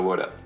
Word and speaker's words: Woulda: now okay now let's look at the crazy pronunciation of CA Shoulda Woulda how do we get CA from could of